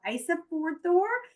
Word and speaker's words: Ísafjörður: We'll have Ísafjörður in Iceland is your first one. Akureyri, Iceland. Seyðisfjörður, Iceland. I know, and believe it or not, this is how you pronounce these.